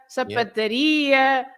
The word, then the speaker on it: sapataria: The words ending in ia, they are stressed at the end. So you have lots of shops, for example. You say padaria, pastelaria, gelataria, sapataria, mercearia, and so on.